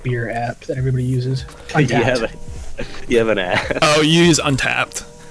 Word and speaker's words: Untappd: Untapped.